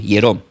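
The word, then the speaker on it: ἱερόν: Del griego es hierón con h i e r o n. Yerón, templo, que significaba lugar dedicada a la adoración.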